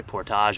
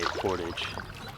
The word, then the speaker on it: portage: Correct me if I'm wrong, you could say portage or portage. I think Americans say portage. Canadians and everyone else say portage. And I think I'm gonna have to side with the Canadians on this one.